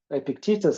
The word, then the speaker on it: Epictetus: a dude in ancient Greece ancient Rome called Epictetus Epictitus how it's pronounced and he says some things are in